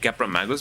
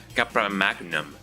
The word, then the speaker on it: Capra Magus: Is the username Capra Magus? Because I've always pronounced it as Capra Magnum.